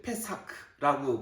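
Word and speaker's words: פסח: 원래이 유월절이란 말은 히브리어로는 이제 패사크라고 발음을 하고 영어로는 패스오버.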